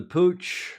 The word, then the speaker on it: Puig: That will be the Pooch, is how that's pronounced, I'm told. Pooch is the sponsor. I'm not even sure what Puig, Pooch, what that company does.